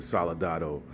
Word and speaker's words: Soldado: but that's alright though Sicario to day of the solid otto i believe in pronouncing it right may have not rolled my tongue enough but let's get in